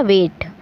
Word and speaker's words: W8: ये भी इसी तरह से है, जब इसको हम प्रोनाउंस करेंगे, जब इसको हम बोलेंगे तो ये साउंड करेगा वेट।